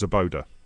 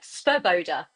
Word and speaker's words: Svoboda: Uh, well, I would think it's Zaboda. Very, very close. Svoboda. So it's Zb- just a Svoboda. Yeah, it's exactly Zaboda. it's said like phonetically.